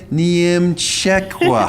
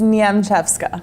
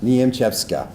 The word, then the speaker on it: Niemczewska: officer this is niemcekwa how did i do not good you're how do you say your last name it's nyam chefska niamchepska and she's me and